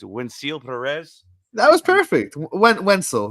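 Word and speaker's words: Wenceel Pérez: Wenzel, not Wensil, close.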